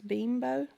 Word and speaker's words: Bimbo: So it's not Bimbo, it's Bimbo.